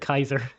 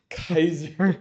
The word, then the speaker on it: Caesar: Rome, but they call it they pronounce it Kaiser. Kaiser.